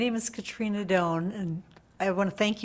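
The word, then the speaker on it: Dohn: your name once again my name is Katrina Doan last name is spelled d as in dog o h n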